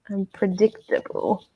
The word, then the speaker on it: unpredictable: on prayer tip but where's the stress on this word Catherine unpredictable unpredictable for me the first and the third syllable I'm unpredictable absolutely tatiana